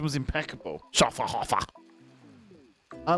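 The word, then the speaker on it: Schöfferhofer: having a lovely day have you had a Sher haer I think I pronounced that correctly you have to shout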